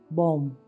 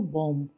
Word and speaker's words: bomb: First word is BOMB, बॉम्ब बोलते हैं इसको, बॉम्ब। तो यहाँ पर आपको बी की आवाज़ नहीं आ रही, बॉम्ब तक ही आ रही है, मतलब बम्ब।